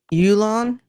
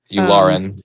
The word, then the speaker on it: Yularen: No, outside of the fact we had Admiral Yulon. Is that how you pronounce his name? Yularen? Yularen, yeah. Yularen, thank you.